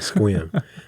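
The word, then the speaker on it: Sequim: We were in Squim. I forgot what it's called. Squim. Squim? Yeah, that's how you pronounce it. Squim. They say if you pronounce it wrong, that means you're not from there.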